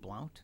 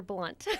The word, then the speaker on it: Blount: It's Blunt. B-L-U-N-T. BLOUNT. Yep. But it's not pronounced Blount.